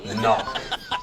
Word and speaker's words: knock: knock spell the word knock n o c k knock no there's a k you don't see how just because you can't hear the K doesn't mean it's not there all right the last